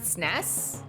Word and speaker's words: SNES: would I pronounce it SNES I don't actually know how to pronounce it you say all the letters s NES oh okay I actually